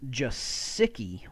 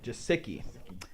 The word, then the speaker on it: Gesicki: The official pronunciation is Gesicki. Gesicki.